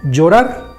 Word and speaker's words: llorar: Si juntamos la doble L con la O, se forma la sílaba yo, como llorar.